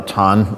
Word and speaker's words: Chan: in Chan Buddhism uh tan is the sort of the the the pron the Chinese pronunciation of the character which perhaps uh you're more familiar with as Zen as it become Zen Buddhism in Japan um and uh I